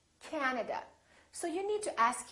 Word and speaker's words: Canada: and also three A's this time the first syllable is stressed this time this act is really long so don't say Canada say Canada Canada so you need to